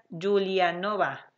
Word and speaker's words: Giulianova: no puedo pronunciar y se pronuncia giulianova exacto gracias a si así lo entiendo más en español no en no en italiano porque no notarlo italiano julian no va ahí está para que